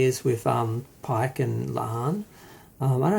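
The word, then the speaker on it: La'an: with um pike and lahan i don't know how to say her name it's supposed to sound like khan um but yeah we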